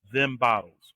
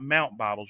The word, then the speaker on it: MT Bottels: And remember, it's the letter M and the letter T. Them bottles. All right, MT Bottles. It's not Mount Bottles. You don't pronounce it like that unless you are planning